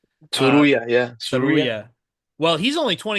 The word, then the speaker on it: Tsuruya: This Ray Saruya, I'm gonna have to look up how to pronounce that last name. Uh, Tsuruya, yeah.